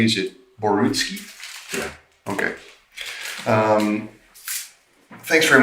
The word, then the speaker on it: Borutski: uh the big one now Basel am I pronouncing your last name correctly is it borutski yeah okay um thanks very much for taking